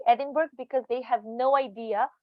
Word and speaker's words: Edinburgh: think uh usually non-native uh people would say edinburgh because they have no idea how people in uk pronounce this particular city however the correct pronunciation